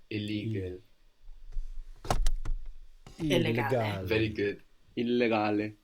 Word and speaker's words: illegale: Illegale. And you pronounce both L's as well.